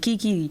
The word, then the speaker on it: KK: It's written KK, but he pronounces it Kiki.